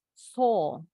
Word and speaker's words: saw: So, W-nya nggak bunyi ya. Jadi yang perlu diingat kalau kata berakhiran aw ini bacanya o, hanya o aja. O. Contoh so tadi. Hukum, law. Telapaknya binatang, paw. Apalagi tadi? Claw, cakar. Nah, bunyinya o semua.